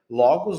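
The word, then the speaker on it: λόγος: A primeira logos na logo na primeira sílaba, a gape na segunda sílaba e aqui nós temos matetes. Matetes que é na última sílaba atônima.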